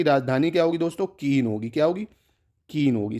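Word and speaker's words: Cayenne: राजधानी क्या होगी दोस्तों कीन होगी क्या होगी कीन होगी सी ए वाई स्पेलिंग याद रखना ई डबल एन ई केन बोलते हैं इसको कीन ठीक है फ्रेंच गुयाना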